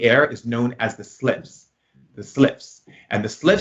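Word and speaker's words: Sylphs: It's like Syphes. I have to look it up. I didn't win the spelling bee, but you can look it up. And they're called slips, but that's how you say it, like slips.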